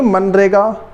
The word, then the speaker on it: MGNREGA: तो देखो ये मनरेगा वैसे वही है, मगनरेगा वैसे मनरेगा। देखो MGNREGA, फिर वही जी साइलेंट कर दिया, MGNREGA।